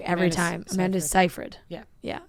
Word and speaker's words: Seyfried: Amanda Seyfried. Yeah. I always want to say Seyfried. Seyfried. That's not it.